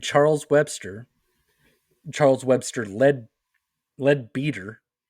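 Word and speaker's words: Leadbeater: Webster Charles Webster lead lead beater I would think it would be lead better but no it is spelled l e a d b e a t r that is a lead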